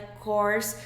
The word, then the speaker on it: course: E se você erra essa pronúncia, presta atenção que ela é course, porque é igual de of course.